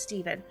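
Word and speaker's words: Stephan: Now, uh they they spelled his name Stefan, but he is pronounced Steven.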